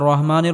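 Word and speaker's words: الرحيم: আর রাহমানির রাহিম।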